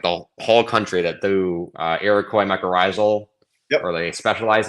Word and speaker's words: Iroquois: So there's like 2 scientists in like the whole country that do Iroquois mycorrhizal.